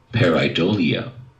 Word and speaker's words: pareidolia: ambiguous visual pattern okay now here's how it's pronounced pareidolia okay let's listen to it again pareidolia wait a minute did